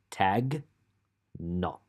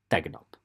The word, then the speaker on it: tegnap: So I'm going to do it slowly. Tag, nop. And o. You have to remember that o is a thing. And the fast version is tegnap.